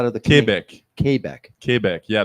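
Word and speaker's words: Québec: does how do thec kbec kbec yeah there's an accent on the E which makes it become a a sound hey hey that's what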